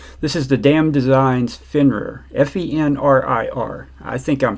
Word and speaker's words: Fenrir: This is the Damn Designs Fenrir, F-E-N-R-I-R. I think I'm pronouncing that right.